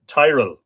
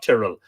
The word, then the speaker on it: Tyrell: It's pronounced Tyrell, not Tyrrell.